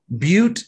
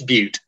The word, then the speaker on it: Butte: the hard-working people of butte county california am i saying that right he acts butte or is it butt it's butte okay which is the